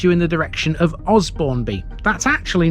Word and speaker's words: Osbournby: Outsiders might think this is Osbournby.